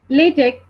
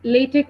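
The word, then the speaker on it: LaTeX: programming language over other Document Preparation systems so latch which is pronounced as latek or lat is a text based Document Preparation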